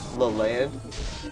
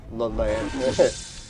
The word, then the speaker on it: Leland: Oh yeah, and I like the French way people say my name too. Leland. Because yeah, it almost sounds very French, right? Leland.